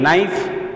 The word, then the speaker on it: knife: Then knife, again knife, k is silent, knife ending word is